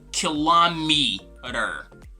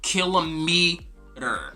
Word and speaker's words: kilometer: So this is going to be kilometer or kilometer. Actually, in American English we say kilometer, but in British English we say kilometer.